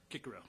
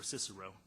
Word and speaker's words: Cicero: one quote from um roman senator marcus tilius kikerow or cicero and he stated uh salient nm vegas inter